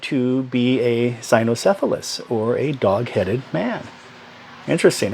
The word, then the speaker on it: cynocephalus: But these dog-headed men, called cynocephalus is what it is. The C is pronounced like an S, but cynocephaly is basically having a dog-shaped head. I think it's from the root word that also gives us canine, which is a hard K sound, the K.